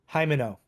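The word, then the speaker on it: Himeno: Homino? How do you pronounce her name? Hold on, let me check. Hymeno.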